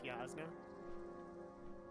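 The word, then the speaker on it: Jasna: It's a Y What? instead of a J. It's a Y sound instead of a J. Yeah, So it's Yasna.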